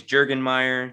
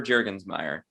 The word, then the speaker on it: Jurgensmeyer: can't can't pronounce it my grandmother on my mom's side could never pronounce it properly it was always jurgen mayer jurgen meyer it was never jergensmeyer so you know what